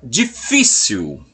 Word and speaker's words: difícil: Agora nós teremos a palavra difícil. Observa, a palavra difícil, ela tem um acento na sílaba do meio.